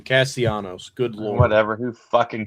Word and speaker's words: Castellanos: They lost Bryce's boy Castellanos. Who you loved him. Not how you say his name. Castellanos.